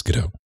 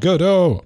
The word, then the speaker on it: Godot: We'll call it Godot, but you got to get rid of the insect. Like, fine. I mean, I've read Samuel Beckett plays before, so I know how it's pronounced.